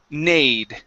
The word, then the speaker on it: neighed: Okay, so the A sorry, the E-I-G-G-H. This is going to be a long A sound. Nade.